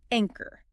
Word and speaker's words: anchor: And that brings us to our next vocabulary word, anchor.